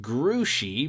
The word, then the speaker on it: Grouchy: why is he caught grouchy because that's his name said mrs. Zimmerman only it's pronounced grew she because it's a French name fat ears here knows